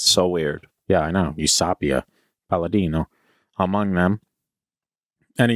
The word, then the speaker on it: Eusapia: The emphasis was on sa. Is S. So weird. Yeah, I know. Eusapia, Palladino, among them, and a young French woman named Marthe Béraud.